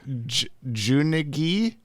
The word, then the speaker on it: Junegi: Junegi, it's a hard G. Junegee. Junegi. Junegi? Or is it like a yeah sound, like a unigi?